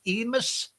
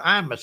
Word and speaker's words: Imus: Was it Don Emus or Imus I guess is how you say that.